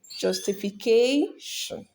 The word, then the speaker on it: justification: communication decision Commission educ so Shan words are usually stressed on the what second to last syllable or the penultimate syllable so back to our question justification so the answer here